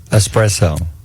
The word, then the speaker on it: espresso: saying s espresso okay just don't put an X in there espresso and salmon not Salmon